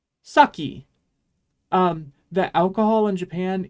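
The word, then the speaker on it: 先: isn't it this word means before and it's pronounced saki um the alcohol in Japan is sake by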